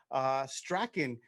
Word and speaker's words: Strachan: Strachan.